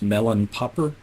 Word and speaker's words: Mellonpopr: It's pronounced Melon Popper.